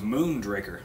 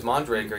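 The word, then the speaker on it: Mondraker: know nothing about it I thought it was moon Drakkar yeah no is it just one way they were pronounced that was mondragor yeah that's what I heard ok yeah picked up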